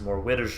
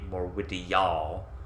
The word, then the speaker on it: Morwitijaal: shelter so she finds more widows all although i suppose the actual pronunciation would be more witty y'all more witty y'all um